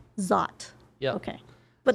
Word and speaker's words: Szot: Because it's like, how do you pronounce it? Zar? Zot. Zot.